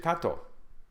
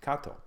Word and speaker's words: Kato: Kato. Umpteen times they would hear his name pronounced Kato, but it's written K-A-T-O.